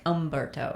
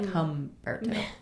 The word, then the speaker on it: Humberto: So it's not like Umberto. It's like Humberto.